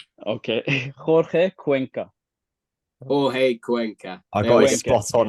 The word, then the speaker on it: Cuenca: everyone watching that still doesn't know how we pronounce our new signings name go for it it's full name okay quena quena I got spot on last week well